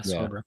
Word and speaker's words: Sorber: Sorber, right? Yeah, Sorber. Yeah, that's how you pronounce it.